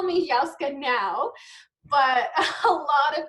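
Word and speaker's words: Yahozka: Um so my name is YaKa and it's like y a h o z ka.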